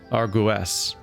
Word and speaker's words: Argus: Argus, armor, pronounced Argus, Argues. This is so confusing.